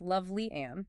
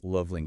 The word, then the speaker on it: Lovely Ann: And it's pronounced Lovely Ann, it's just so everyone knows. Loveling Clark, got it.